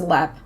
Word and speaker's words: Leap: to look it up it's l e a p like leap but it's pronounced LEP um Leb Castle is thought to